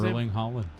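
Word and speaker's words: Erling Haaland: Eurling Holland.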